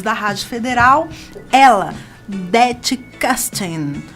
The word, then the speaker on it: Kersting: Dete Castin. A pronúncia tá certa? É Castin. Castin.